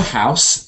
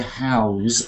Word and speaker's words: house: there we go so this is the house so it's s sound but you can sometimes hear howls as a verb and sometimes words with s change to z when they go to verbs okay so now who's